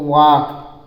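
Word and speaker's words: walk: उसके आगे लिखा है डब्लू ए एल के तो डब्लू ए का होता है वा पराक मांत्र वा और एल साइलेंट हो जाता है के को लिया जाता है के का मींस होता है का ठीक है तो वाक वाक मींस होता है टहलना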